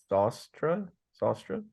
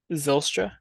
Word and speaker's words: Zylstra: the touchdowns was for the Lions was Shane Zostra. I don't know how to pronounce it. Are you trying to say Zylstra?